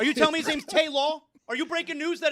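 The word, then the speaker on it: Tajuan: It can't be Taiwan.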